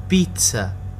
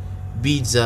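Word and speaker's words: pizza: فزي فزي دزي رابعا ما عدا كلمه بيتسا فانها تنطق بيتسا يعني بيتزا باللغه العربيه شائع وهذا خطا طبعا حيث ان المقطع ز يلفظ الدبل زد يلفظ ت اذا تلفظ بيتسا وليس بيتزا كما هو معروف خامسا في اللغه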